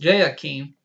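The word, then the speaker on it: Jehoiachin: of the Exile of yakeen pronounced J Hakeem sovereign of Judah in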